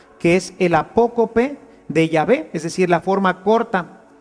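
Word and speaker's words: Yahvé: llave y por eso nosotros sabemos que la pronunciación correcta de llave es así llave y no jehová que simplemente una una litera ción se fue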